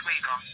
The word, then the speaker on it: Vega: The name Vega was originally pronounced Wega, and came from the